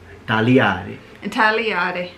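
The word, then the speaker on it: taliare: Let's go for tagliare. Oh, I like that one. Tagliare. Wait, is it ta-li or ta-ri? Li. Tagliare.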